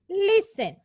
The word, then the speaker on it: listen: Listen. In the word listen, the letter T is silent. The letter T is silent. So how will we read it? We will read it as listen.